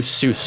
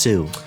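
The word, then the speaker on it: sous: with Sydney K's New Seuss Chef par it it's pronounced Sue oo I don't know about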